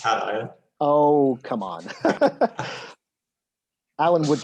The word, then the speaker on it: cation: know what acacia is acacian is uh is a positive ion is it not i think it's pronounced cation oh come on alan